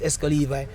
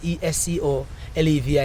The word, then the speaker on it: Exco Levi: It's just a spelling different, but they pronounce the same way. So, if a person say E X C O S is L E V I is Esco Levi.